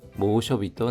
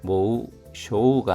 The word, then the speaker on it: 猛暑日: 하츠노 처음의 모쇼비또 날리마시다. 혹서일이 되었습니다. 모쇼비도 날리마시다. 쇼가 짧은 발음입니다. 모쇼비 할 때 모쇼가 아니라 모쇼비입니다. 모쇼비 또 나이마시다.